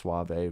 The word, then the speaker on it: Sauve: I'm pretty sure it's pronounced Suave, which is cool. It makes me think of Rico Suave.